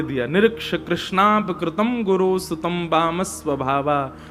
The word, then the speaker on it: कृष्ण: इसीलिए हम कथाओं में कहा करते हैं कि भगवान का नाम उच्चारण करना है तो कृष्ण बोलो, कृष्ण।